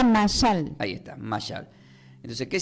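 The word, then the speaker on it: מָשָׁל: Diga conmigo, se pronuncia masal. Se pronuncia masal.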